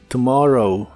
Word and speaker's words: tomorrow: tomorrow que significa mañana la primera o se pronuncia como una u muy suave y corta tomorrow tomorrow y usaremos las palabras